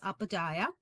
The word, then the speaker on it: Upadhyaya: last name pronounces Upadhyaya.